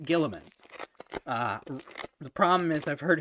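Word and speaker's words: Guilliman: It's very funny to me to see people though who don't know how to pronounce Gilliman because they just see it. Oh, that's actually really pretty. They see it for the first time spelled in the game, and it's like Gully Man.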